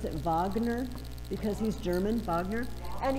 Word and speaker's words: Wagner: you pronoun it looks like wagner but you pronounce it wagner because he's german wagner and he wrote operas